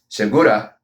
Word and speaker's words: Segura: His name is Segura, but to pronounce it in, to the proper pronunciation of it in Spanish, Segura, almost sounds like I'm trying to say it in Japanese.